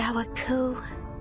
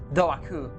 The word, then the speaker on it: Doaku: Damn, I completely read that name wrong. Doaku. I basically ignore half of the words, half of the letters in the name.